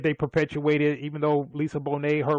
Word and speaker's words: Bonet: Leau and her name is is looks like Bonnet but it's pronounced Bonet.